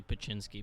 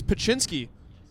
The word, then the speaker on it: Pinsky: clown sitting behind us it's actually Pinsky but yes oh we kindergarten it's Pinsky we'd like to apologize to all the alma faithful who are tuned in right now we've been pronouncing his name wrong P Pinsky Pinsky Pinsky